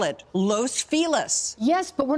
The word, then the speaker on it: Los Feliz: Because, and I get what she's saying, it is Los Feliz.